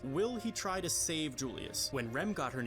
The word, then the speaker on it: Julius: Or, my bad, I guess now I should use the Spanish pronunciation. Julius.